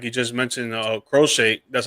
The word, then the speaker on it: Crochet: Um, like you just mentioned, uh, Crochet, that's how you pronounce his name.